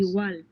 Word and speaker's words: igual: igual, igual, Notice again that they're not pronouncing the G, right? It's very, very subtle, or it's hardly being pronounced. igual, It's more like igual, igual.